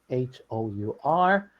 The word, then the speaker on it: hour: And this word, the last word, HOUR, we don't say the H, so we pronounce it exactly the same as hour.